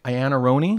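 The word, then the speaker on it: Iannarone: opponent was someone named Sarah Ayanna Roney is that how you pronounce her name yep yeah on her own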